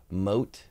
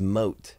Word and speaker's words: Mhot: Mote. So maybe his name is pronounced Mote, because his Facebook link is M-H-O-T, evaded, official, motivated. So I think it's Mote.